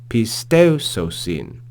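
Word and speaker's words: πιστεύσωσιν: we see here Epsilon Upsilon here is a diphthong so they're pronounced together pay still so seen pistoso sin pisteoso sin Hina pontes pistel so sin Di verse 8.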